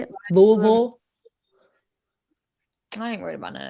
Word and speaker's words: Louisville: Back when she was in Louisville, hell yeah. Or how you say it? How you say it? Louisville.